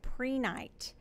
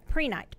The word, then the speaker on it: Prehnite: So I didn't bring the crystal, but I'm introducing to you today a crystal called Prenite. It is spelled Prehnite. Sometimes I have to write to spell. Oh, yeah. Yeah, Prenite.